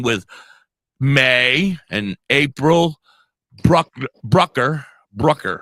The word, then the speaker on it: Bruckner: me your your your thing and it said Brooker oh yeah yeah so yeah sometimes they put